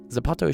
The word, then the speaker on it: zapato: What's Zapato? Uh, thawato. That's Spanish when they So people in Spain pronounce it as a th in in Mexico and stuff. It's a z and that means shu. Zapato.